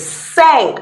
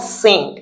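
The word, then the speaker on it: cinq: Okay, it's sank, not sink because in French I N sounds e.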